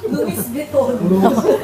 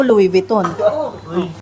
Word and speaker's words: Louis Vuitton: eh all my life Alam ko Louis vitton that's an English pronunciation that's acceptable No one judges you